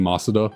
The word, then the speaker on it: Masuda: And I think that's more how you pronounce his name, Masuda, but it kind of flows off the tongue a little easier to say Masuda method.